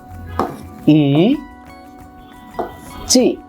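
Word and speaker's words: いち: এটাকে যদি আমরা রোমাজিতে লিখি, ইংরেজি জাপানিদের যে ইংরেজিটা সেটাকে বলা হচ্ছে রোমাজি, আমরা রোমাজি লিখব ইচি। আমাদের এটা উচ্চারণের সুবিধার জন্য ইচি। আপনাদের আরো সুবিধার জন্য আমি পাশে লিখে দিলাম বাংলায় এই উচ্চারণটা কেমন হবে, ইচি।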